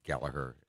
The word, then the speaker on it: Gallagher: named Gallagher too with I learned how Gallagher was spelled and pronounced by you know looking up Rory Gallagher on YouTube I saw him you know introduced in uh in Ireland and they pronounced it Gallaher and then uh there's